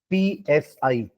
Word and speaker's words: psi: इट इज़ sin psi ठीक है? P silent है और यही होता है वेव फंक्शन।